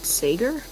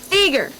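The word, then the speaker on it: Seger: taken for granted Bob Sager what's that my um my other mod angle said not the Bob Sager reference is that how you pronounce it SE Seager okay yeah he's been catching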